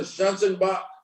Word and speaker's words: Schanzenbach: Professor Schanzenbach, you are recognized for 5 minutes for your opening statement.